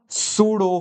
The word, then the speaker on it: pseudo: A pseudo force. Pseudo force P is silent.